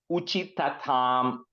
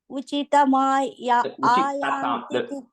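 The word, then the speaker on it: उचितताम्: The second line, uchitatam ayanti. Uchitayanti. There are two thas there. Uchitatam. Uchitatam. Yeah.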